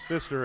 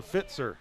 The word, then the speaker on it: Pfister: And there's Pfister again. Or Fitzer, I should say. And we got to pronounce that name right, because she's been giving Bella Vista fits tonight.